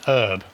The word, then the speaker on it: herb: An herb. That's how the Americans pronounce it, isn't it?